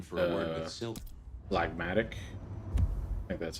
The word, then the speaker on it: phlegmatic: Phlegmatic. I think that's how you say it, right? Yeah, phlegmatic.